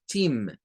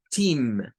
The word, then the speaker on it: team: Entonces aquí se dice team, team, sería el sonido de acá, con I, team.